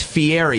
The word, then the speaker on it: Fieri: In America, it's Fieri.